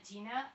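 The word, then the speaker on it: qi: cómo lo pronunci amos chi chi chi se escribe I pero lo pronunciamos chi bueno en algunos se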